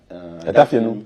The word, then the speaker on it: Adafenu: Is it the correct pronunciation? Near Keta. Adafenu. Adafenu, okay. Adafenu.